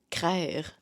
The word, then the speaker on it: craire: Craire. Ah ben ça, c'est drôle. Craire. Ça, c'en est un qui est juste québécois. Ça dit ancienne prononciation de croire.